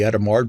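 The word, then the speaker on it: Hadamard: matrix multiplication called the adamard product yes i'm pronouncing that correctly i looked it up two matrices with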